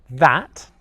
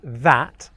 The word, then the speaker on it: that: The word 'that' is a really difficult one to pronounce in English. One, because of the sound at the beginning /ð/ and two, because of the sound at the end /t/, alright.